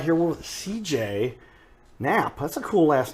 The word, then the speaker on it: Knapp: It has a silent K and an extra P.